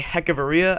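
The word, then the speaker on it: Hechavarria: and travis darnad and adani hecaveria i believe that's how it's pronounced according to the red sox pa announcer uh and outfielder jake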